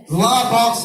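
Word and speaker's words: Les Baux: La box is the pronunciation in French.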